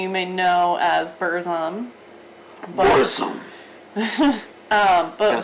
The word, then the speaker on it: Burzum: Burzum.